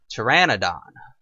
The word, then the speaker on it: Pteranodon: 25 and yeah and that is not a um pterodactyl or a terasa that is a Pteranodon often Mis pronounced as the others quite often and another useful tip